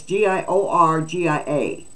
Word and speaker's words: Giorgia: pronouncing that correctly it's g-i-o-r-g-i-a now I had a Georgia uh cousin yeah but this is g-i-o-r-g-i-a giorgia I don't know her